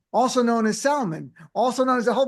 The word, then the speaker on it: Salmon: We have Jason Sman, also known as Salman, also known as a whole bunch of other pronunciation, but Sman is right.